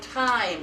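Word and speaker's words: Thyme: I want you to look at your bookmark for our next title because I want you to see how time is spelled. Time is spelled T with an H-Y.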